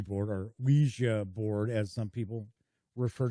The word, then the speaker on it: Ouija: So here we've got a planchette, like for a Ouija board, or Ouija board, as some people refer to.